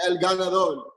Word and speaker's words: El Ganador: So am I pronouncing this right? El Ganador? Yeah, El Ganador.